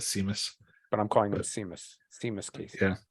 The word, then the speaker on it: Seamus: But I'm calling him Seamus Casey. Yeah. SE is a sh sound for some the highlight